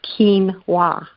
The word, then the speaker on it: quinoa: Andes Andes over 5000 years ago and is pronounced quinoa ke en wh8 and I mean I believe